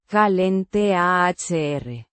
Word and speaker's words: calentar: Kah-len-TAHR. With the stress on the. TAHR. Syllable.